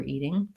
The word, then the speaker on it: eating: further in my throat what we're eating that my tongue just stays neutral we have a question